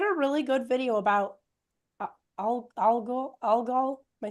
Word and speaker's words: Algol: He had a really good video about Algol. Am I saying it right? Algol.